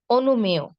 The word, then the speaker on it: অনুমেয়: শব্দের শেষে যদি অন্তস্থ অ থাকে তাহলে অন্তস্থ অ এর উচ্চারণ অন্তস্থ অ এর মতোই হবে, ও এর মতো হবে না। কিন্তু অন্তস্থ অ এর আগে যদি একার বা ইকার থাকে তখন উচ্চারণ হবে কি? ও এর মতো। শেষে ওকার দিয়ে উচ্চারণ করব।